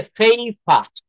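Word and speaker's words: paper: পেপার মানে হচ্ছে কাগজ, তো এটাকে বলা হচ্ছে ফেইফা। ফেইফা। I need some ফেইফা।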